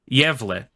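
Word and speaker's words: Gävle: correctly the word is spelled g a v l e but it is not pronounced at all like that it's pronounced yev it's the yev goat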